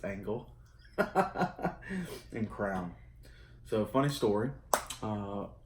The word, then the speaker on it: Angle: Halo Enhance Carrot, spelled like diamond carrots. Yeah? Princess Cut Angel, or Angle. It's Angle.